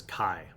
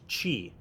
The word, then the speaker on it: chi: Because when I was a little kid, I called it kai. And then other people started to call it ki. And then later on, like studying actual martial arts, I had actual martial artists tell me that it's pronounced chi.